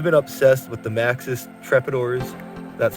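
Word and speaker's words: Trepador: But I've been obsessed with the Maxxis Trepidors, that's how it's pronounced, on the one scale world for years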